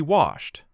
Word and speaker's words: washed: He washed. One beat on the end.